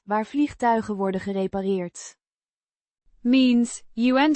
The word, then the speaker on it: vliegtuigen: vliegtuigen. Means airplanes or aircraft, pronounced Vliegtuigen. with the G, is a voiced sound, like in the English go, and the ch is a guttural sound.